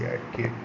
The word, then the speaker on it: archaic: एक्यक के क्या होगा 10 नंबर डी, ARCHAIC, एक्यक, ठीक है, ARCHAIC, एक्यक, ये प्रोनाउंसिएशन सही है।